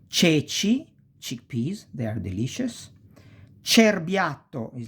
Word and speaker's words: cerbiatto: So, cesta, ceci, cerbiatto, cesoie, cento, ce. You pronounce like chest.